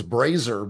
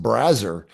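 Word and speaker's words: Brazzers: I thought it was Brazer, but it's actually pronounced Brazer, and they were very big on the big boobs, like tit fucking scene.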